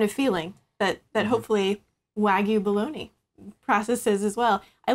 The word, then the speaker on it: Wagyu: pair here with your so Wagyu is how you pronounce it okay what struck you